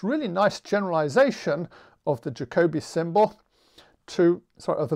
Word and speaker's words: Jacobi: who speaks german because i'm mispronouncing jacobi how the proper german pronunciation is something closer to jacobi but if i call it that then nobody in england or america will understand me so i will use the english pronunciation so the jacobi symbol